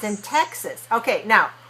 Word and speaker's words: Texas: in Texas okay now watch me when I say this word Texas Texas okay so second syllable is just like Dallas us you see very relaxed but not ah not takes us not in English all right so Texas